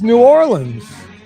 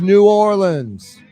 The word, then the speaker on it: New Orleans: It's real easy to pronounce it. 3 syllables. New, or, and then L-I-N-Z is the best way. You heard him? This is New Orleans.